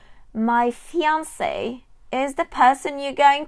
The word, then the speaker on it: fiancé: And yes, you put the accent on the E. My fiancé is the person you're going to get married to, but you're not married yet.